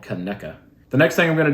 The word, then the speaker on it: Conecuh: I'm not sponsored by them, but I did get in trouble from a lot of locals for not saying it correctly in my last video. So it's called Conecuh.